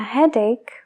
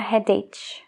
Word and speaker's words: headache: toche headache tooth e es una palabra que no se escribe igual que se pronuncia Entonces si puedes ver el vídeo sería muy buena idea para asociar la palabra que estás escuchando con lo que está escrito Nunca digas I have a Had no a he es